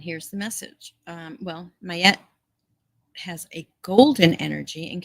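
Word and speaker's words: Maat: the highest good okay here we go Matt pronounce mayette or mayette mayette she's an ancient Egyptian deity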